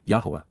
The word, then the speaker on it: Yahowah: Yahwa Yahwa the proper pronunciation of the name of Eloha God as directed in his Torah teaching regarding his haya existence